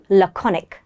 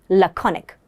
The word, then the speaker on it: laconic: type of personality is laconic. Say it with me. Laconic. Let's have a look at its pronunciation. L co neck.